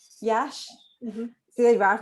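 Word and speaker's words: Iași: Florine was born in Iasi. Is that how we pronounce it? Yash. Yash.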